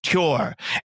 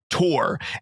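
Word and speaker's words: Tuor: to point out that Saint bear says the word tour he says cure and he is insistent that it's the right way to say it and every person I've ever spoke to that I know of says that he's wrong so it's not said cure it said Tor and so you're wrong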